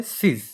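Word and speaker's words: cease: নয় নাম্বার প্রশ্ন দেখতে পাচ্ছি synonym of the word চিজ বা সিজ যেটাকে বলা হয় সিস এটার উচ্চারণ হবে সিস option A begin option B stop option C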